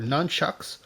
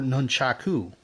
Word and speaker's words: nunchaku: lists these as nunchuka i've never heard it pronounced quite like that i've only ever heard it pronounced either nunchucks or nunchaku though it might be